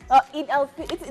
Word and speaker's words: Eid al-Fitr: No, it's not ul, it's al. Eid al-Fitr.